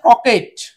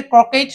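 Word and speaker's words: croquet: নিতে হবে আরেকটা হচ্ছে ক্রকেট এটাকে ক্রকেট না বলে শুধু ক্রকে বলতে হবে কারণ এই টি এর উচ্চারণটা হবে না এটা এক ধরনের একটা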